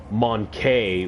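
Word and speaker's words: mon-keigh: racial slur for humans which is literally monkey but it's spelled m-o-n Dash k-e-i-g-h so monkey whatever the [ __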